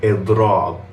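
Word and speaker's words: إضراب: Then all you're going to do is take the root of the verb and stretch out the ending of the word with a long a sound after the second letter of the root. And what you get is idrab. Again, idrab, right? You have the e sound in the beginning, then a long a sound to finish off the word.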